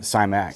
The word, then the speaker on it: Simac: tier simac and I how you say that last name simac simac simac like it's spelled but if it was